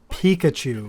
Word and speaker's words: Peacuch: Which, yes, if you can hear it already, is actually just the word Peacachu, like the Pokemon Pikachu, but it's spelled phonetically.